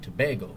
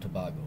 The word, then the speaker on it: Tobago: country and our politics this was Trinidad and Tobago not Tobago I was mispronouncing it I watch your video